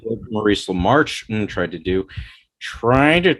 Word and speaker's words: LaMarche: Or like what Maurice LaMarche tried to do, trying to take over the world.